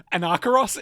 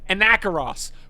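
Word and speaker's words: Anacharos: So, it's Anacaros in my accent, but it's a N A C H A R O S. Anarchy. It's Anacaras. But I don't I don't pronounce A's that way.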